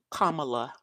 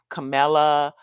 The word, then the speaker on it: Kamala: VP comma Harris and it's very important that we all say her name right because these yahoos out here purposely say her name other ways I don't even what camela Camala come you know just purposely mispronouncing her name but it was I